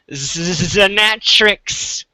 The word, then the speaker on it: Xanatrix: I don't think that here I'll give you a pronunciation guide. There you go. It's not really that hard. Xanatrix. Now you're just being pedantic and obtuse. Now you're just being pedantic and obtuse. Xanatrix.